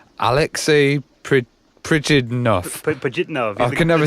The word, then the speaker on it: Alexei Pajitnov: And another one was with, I'm going to try and say his name, Alexei Pajitnov. I can never say it. The creator of Tetris. No, it's actually Alexei Pajitnov.